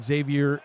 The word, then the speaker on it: Xavier: alfrook aminu at corner Xavier Rue the thirds yeah set it right I said it right I didn't pronounce the X Mike Bird Roscoe Jenkins